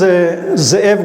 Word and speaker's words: Ze'ev: So my name is Ze'ev. Some call me because it's hard to pronounce Ze'ev. So you can call me or Ze'ev, whatever you prefer.